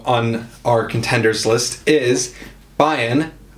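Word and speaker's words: Bayn: our contenders list is bayen which is how i pronounce it it's b-a-y-n so bain bayan bane let's go spain okay so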